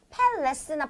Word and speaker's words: palace: 그 다음에 여기에 있는 A가 palace나 palace나 palace 이런 거 아니고 약간 E에 가까운 발음, E랑 E 중간 발음 이런 식으로 여러분 발음해 주시면 됩니다.